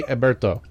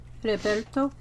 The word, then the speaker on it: Heriberto: But it helps that it's kind of like Herbert, but in Spanish.